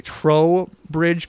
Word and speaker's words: Trowbridge: We have Dusty from Vergas, Minnesota, with, I'm going to pronounce this correctly, Trowbridge Creek Zoo. That's correct. I always want to say Toe, but there's an R in it.